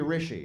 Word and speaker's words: Rishi: Because it's supposed to be Rishi. It's like Richie, but feminine.